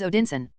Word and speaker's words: Odinsen: Needless to say, the first name, the last name is the father's name plus son, and the pronunciation of son is sen. Therefore, Thor's surname is Odinsen, which means the son of Odin, and the same for Loki.